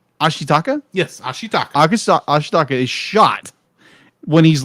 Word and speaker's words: Ashitaka: air quotes um like heals how do you pronounce zimbabwean ashitaka thank you i am terrible with names ashitaka